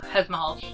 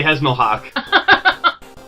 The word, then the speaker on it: Hezmalhalch: It's technically pronounced Hezmalhalch. Yes. But every time I see it, I say Hezmalhalch.